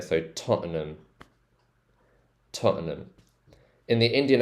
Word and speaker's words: Tottenham: so Totten Toten um Totum um so it's like an um sound at the end there so Totum Totum in the Indian